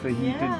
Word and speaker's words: fajita: for making this yummy fajita dinner no come on the only word in the English language where we actually pronounced the J right fajita in C comes on